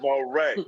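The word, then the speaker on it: Morey: you made him Creo no darl look lookl moay darl moay I I watched back fact I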